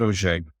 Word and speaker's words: Auge: well mik name's O It's a French name which means you can the way it's pronounced is nothing like the way it's spelled it's a u